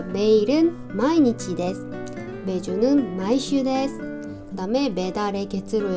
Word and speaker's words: 毎日: 할 때 쓰는 표현인데 여기에다가 도자를 써가지고 얘 발음은 마이고 읽어요 자 같이 읽어보고 마칠게요 자 매일은 마이니치 매주는 마이슈 그다음에 매달의 게로 읽으면 마이데 그다음에